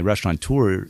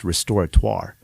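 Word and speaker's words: restaurateur: place for rest um being a restaurant tour it's actually pronounced restoratoire and so when we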